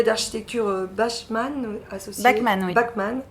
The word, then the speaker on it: Bachmann: Bachmann, c'est ça. Là on prononce Bach.